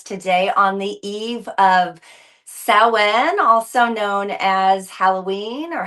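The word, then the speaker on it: Samhain: It's actually spelled S A M H A I N. Sam Hayne, but it's pronounced sen.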